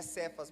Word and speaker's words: Cefas: Se o meu nome não se pronuncia Cefas, é Cefas mesmo sem acento, então eu vou pronunciar o como amém?